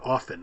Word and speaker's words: often: Notice I said often I didn't say often. So I'm wondering you know if it's but basically the Americans are Queen Elizabeth Queen Elizabeth did not pronounce the T.